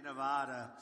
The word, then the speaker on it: Nevada: I came out here I said nobody says it the other way it has to be Nevada right and if you